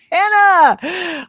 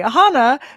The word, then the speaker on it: Hannah: Hannah Hana. Sorry, Hana Carlson. We've been mispronouncing your name the entire time, including on the promo video.